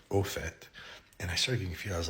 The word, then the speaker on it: au fait: But there was a time after I learned that where I started hearing people saying au fait, and I knew it wasn't en, it was o, a-u, au fait.